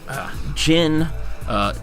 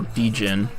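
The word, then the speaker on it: Djinn: These are, in my mind, some of the best options, but I do think that Jin, or Dijin, depending on how you want to pronounce it, Durja and Worm are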